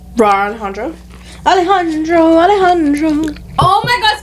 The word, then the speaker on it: Alejandro: to say his name so she goes Roar Alejandra yeah she goes wrong Alejandro Alejandro Alejandro oh my God speaking of Alejandro